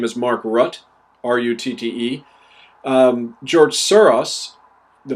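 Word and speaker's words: Rutte: prime minister of holland his name is mark rutt r-u-t-t-e um george soros the multi-billionaire who's a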